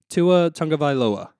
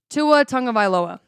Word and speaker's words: Tua Tagovailoa: So, gosh, I still can't pronounce his name. Tua Tagovaila. Tua Tagovaila.